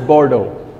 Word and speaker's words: Bordeaux: This, I know it says B-O-R-D-A-U-X, but it's pronounced as Bordeaux.